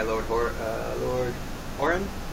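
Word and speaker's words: Lord Huron: So this one is called "The Night We Met" by Lord Horan.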